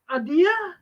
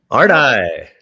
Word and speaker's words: Ardai: cry hard case crimes novels excuse me charles adia ardy charles ardy but it's a weird name so